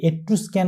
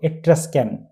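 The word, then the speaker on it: Etruscan: একটা কথা বলে রাখি অনেকে এট্রাস্কান কে এট্রোস্ক্যান উচ্চারণ করে থাকে কিন্তু এর সঠিক উচ্চারণ হলো এট্রাস্কান পঞ্চম অধ্যায়টির নাম স্লেভ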